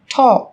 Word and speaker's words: talk: yellow, Một số từ sau đây sẽ có chữ cái L trong cách viết nhưng chúng ta không cần phát âm. Talk, talk, talk, talk, walk,